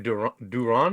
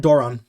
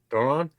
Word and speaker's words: Doran: Duran? Doran. Doran?